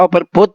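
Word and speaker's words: overbought: juga dengan baut ah tulisannya aja baut ya ya Tapi bacanya overbot Mas Iya jebut menunjukkan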